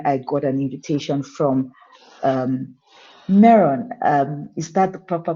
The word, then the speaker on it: Meron: And it's as a result of that passion that when I got an invitation from Meron, is that the proper pronunciation?